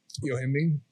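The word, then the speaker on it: Yohimbine: Because like for me, it's Yohimbean. Is that how you say it? Yohimbean? Yeah, yes. That's one of the ones I can't take.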